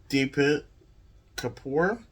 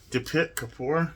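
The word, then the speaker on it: Deepti Kapoor: was age of Vice by deep Kapoor depict Kapoor there we go I think is how you say his name foreign oh yeah this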